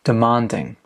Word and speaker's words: demanding: Now, where is the stress? Demanding. Is it on the first syllable, the second syllable, or the final syllable? Demanding. It's on the second syllable. Demanding.